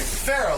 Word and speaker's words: Farah: Farah, like Farrah Fawcett.